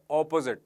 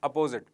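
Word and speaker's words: opposite: वाला जबकि दूसरे वाला शब्द का उच्चारण है ऑपोजिट नॉट अपोजिट ऑपोजिट एंड अपोजिट are different ऑपोजिट का मतलब होता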